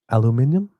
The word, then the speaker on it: aluminium: Alum aluminium.